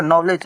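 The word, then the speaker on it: knowledge: तो देखिए यहां पर के को हटा लेंगे तो ये हो जाएगा नॉलेज।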